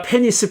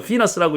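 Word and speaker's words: penis: 많이 우리 한국 사람들은 다 페니스 하죠. 미국 사람들은 페니스라고 읽지 않더라고요. 피너스라고 읽던데 그것보단 좀 고상한 말이죠.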